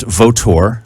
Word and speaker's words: Vautour: All right, we're speaking with Vautour. I'm saying that right again, right? You are saying it right.